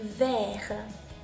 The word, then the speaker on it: vert: vert vert です。